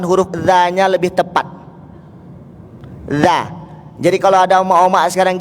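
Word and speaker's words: ذ: Dza, ujung lidah ketemu dengan gigi depan.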